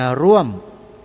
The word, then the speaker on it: ร่วม: 2 คำ นี้ นะ ร่วม กับ รวม นะ ร ว ม คำ หน้า มี เอก อ่าน ว่า ร่วม แรง ร่วม ใจ กัน เนี่ย